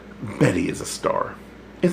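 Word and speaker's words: Bette: he says again and that great woman's name is pronounced bet not Betty is that so I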